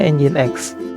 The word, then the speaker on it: Nginx: bersama-sama dengan engine.exe oke engine.exe itu tulisannya nyingsir tapi dibacanya engine.exe loh Oh ya pembahasan pertama